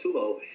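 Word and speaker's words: Tolo: It's called Tulo, T-O-L-O. It's called Tulo, and I don't know how it's spelled in Persian, but they have their own version of 24.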